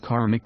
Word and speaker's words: karmic: Actually, it is pronounced karmic debts.